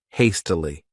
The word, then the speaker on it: hastily: next adverb is hastily this word has three syllables and the stress is on that first syllable hastily what it means is